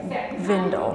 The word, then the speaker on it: Gwindel: It looks like it says Gwindel, but I'm pretty sure, if I'm not mistaken, I believe it's pronounced Vindel, like with a V instead of the W sound.